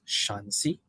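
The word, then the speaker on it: Shanxi: are inner Mongolian uh I am told this is pronounced shansi and the next one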